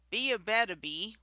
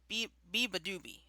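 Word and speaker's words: Beabadoobee: Be a Badaby with Last Day No, on it's Earth. Beeba Doobie. Biba Doobie, thank you.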